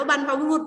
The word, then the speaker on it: บรรพบุรุษ: คะ บรรพบุรุษ นะ คะ คำ นี้ อ่าน ว่า บรรพบุรุษ บรรจักร์ ไหม คะ บรรพบุรุษ